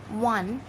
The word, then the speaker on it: one: Because 1, when we are pronouncing 1, it sounds like W. It sounds like W. W is a consonant sound, so we are using A.